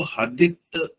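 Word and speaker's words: Hadith: में हदीस बोलते हैं और अंग्रेजी में उसको हदित एच ए डी आई टी एच उसकी स्पेलिंग ऐसा ही है शायद स्पेलिंग वो होता है।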